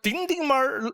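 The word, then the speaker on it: 丁丁猫: That's how it's pronounced in Sichuan. Ding Ding Mao, does anyone know?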